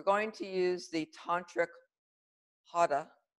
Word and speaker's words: hara: We're going to use the tantric hara. It's H-A-R, it's pronounced hara, but you're not going to say it.